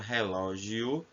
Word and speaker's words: relógio: Observe que a palavra relógio, o som final é de U, só que é escrito com O.